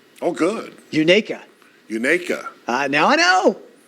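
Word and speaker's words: Unicoi: if you shall receive I did get a pronunciation oh good Unica Unica uh now I know now I know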